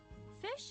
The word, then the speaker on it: phish: or download an attachment fish is pronounced just like it's spelled which is to say like the word fish the analogy is of